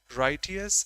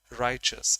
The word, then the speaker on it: righteous: is known as a rightous and honest lady the pronunciation goes righteous actually and riches in American but no problem we